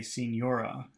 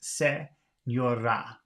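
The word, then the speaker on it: señora: would until recently I would say Senora but it's not it's seora seora but it's very hard to say that for an English speaker because they want to say Senora okay let's see the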